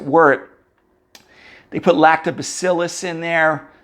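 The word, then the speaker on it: wort: that thick sugary syrup called work w-r-r-w-o-r-t even though we pronounce it word they put lactobacillus in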